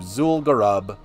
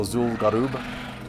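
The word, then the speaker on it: Zul'Gurub: Because it's the Gurubashi, so Garub, so Zul'Garub. That's where we're going now, is Zul'Garub. But yeah, Goldshire Elder is closer to the Zul'Garub Elder than Booty Bay is to Zul'Garub.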